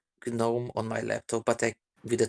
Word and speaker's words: GNOME: So the things that you're saying are the garden gnomes are pronounced gnomes. GNOME started off as an abbreviation, so that's why it's GNOME.